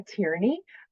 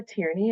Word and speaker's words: Tierney: So once again, my name's Kara Tierney. Professor Tierney is what I prefer to be called. My last name is pronounced Tier and then knee on your leg.